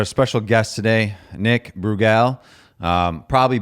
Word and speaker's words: Brugal: special guest today Nick bugal um probably butchered that and I'm supposed to roll my RS when I say your last name uh but I can't